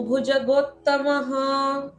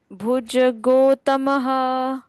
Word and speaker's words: भुजगोत्तम: मरी चिरद मनो हंस मरी चिरदम मनो हंस सुपर्णो भुजगोत्तमः सुप सुपर्णो भुज भुजगोत्तमः गो के बाद डबल त है इसलिए जोर लगाकर पढ़ना है भुजगोत्तम ऐसे भुजगोत्तम सुपर्णो भुजगोत्तम सुपर्णो भुजगोत्तम हिरण्य